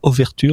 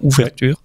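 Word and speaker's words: Overture: s'appelle ouverture map nation j'ai bien prononcé aux vertus vous avez bien entendu c'est pas ouvertures par exemple dont le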